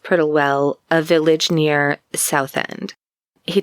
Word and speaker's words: Prittlewell: Reed had set up this meeting with Florence in, I think it's pronounced Prittlewell, a village near Southend.